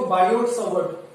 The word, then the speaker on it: Biot-Savart: देखो बायो सेवर्ट, टी इसमें silent रहता है, तो बायो सेवर्ट, तो बायो सेवर्ट लॉ की बात करते हैं।